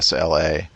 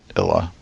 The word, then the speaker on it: Isla: She makes it clear that the S is silent. Isla. Right. So I went with Isla, but it could be Illa.